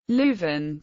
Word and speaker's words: Leuven: Leuven, French, Leuven, pronounced love, often used in English, is the capital of the province of Flemish Brabant in the Flemish region, Belgium.